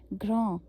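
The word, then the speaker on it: grand: वी ओ यू एस तो last के एस को हम नहीं करते हैं प्रोनाउंस उसका अभी व आएगा ओके एस साइलेंट है घों अभी जी आर ए एन D okay तो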